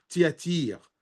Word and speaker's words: Thyatire: parmi les 7 églises, c'est l'église de Thyatire ou de Thyatire, ça dépend comment on la prononce. L'ange de l'église, bien sûr, écrit à l'ange de l'église de Thyatire, ou Thyatire, je vais utiliser plutôt Thyatire, parce qu'en arabe, ça s'appelle Thyatira.